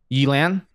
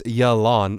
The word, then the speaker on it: Yelan: Elan? Elan? Elan. Yeah. It is her. It's Yelan. That's how you say it, man.